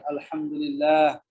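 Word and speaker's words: الحمد لله: Alhamdulillah. Cara bacanya alhamdulillah.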